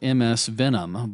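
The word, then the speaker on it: msfvenom: we have something that's called MS Venom, but it's spelt a little funny. It's F-V-E-N-O-M.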